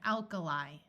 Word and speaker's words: alkali: A few words ending in I will have a long I sound, such as rabbi, alumni, and alkali.